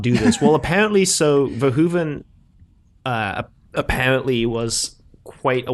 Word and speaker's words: Verhoeven: have you pronounced this it's literally just verhoeven it's it's not as complicated as you might think well when he was